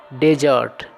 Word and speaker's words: dessert: और एक अन्य वर्ड होता है, वह होता है DESSERT और उसका उच्चारण भी होता है डिजर्ट।